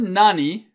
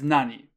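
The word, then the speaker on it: 何: Okay, so the word nani by itself is read as nani. You probably figured that out when I said it. But it's usually pronounced as nan. Like in the middle of a sentence, you're going to see nan.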